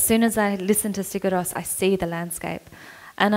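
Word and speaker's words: Sigur Rós: By the way, Hannah, you're probably the only non-Icelandic fan of this band that can pronounce their name correctly, right? Yeah? Yeah. How do you say their name? Sigurós.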